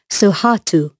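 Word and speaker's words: Sohatu: he's a baby lion he's called suhatu i'll spell that for you so you can find out more about him on our website it's s o h a t u after that you'll see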